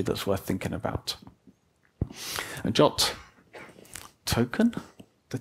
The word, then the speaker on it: JWT: of them which is JWT which is pronounced jot I have no clear way you remember that whole gif gif think JWT is pronounced jot it was so important